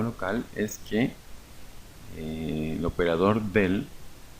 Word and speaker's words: del: El símbolo se pronuncia del, solamente del, o también se conoce como nabla.